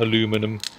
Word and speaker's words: aluminum: And to American friends, yes, it is aluminium in this game, not aluminum. And I know Americans say aluminum, but there's a reason for that.